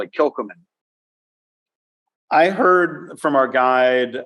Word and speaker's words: Kilchoman: The H is highlighted and stylized. And so Kilchoman.